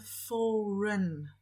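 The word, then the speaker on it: foreign: mniej więcej napisane ale trik polega na tym że pomijamy IG i wymawiamy furen Powtórzmy takie łatwe a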